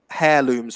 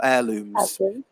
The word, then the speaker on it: heirlooms: sure if you said hair looms or heirlooms but yeah so it's a it's a silent h but yeah but a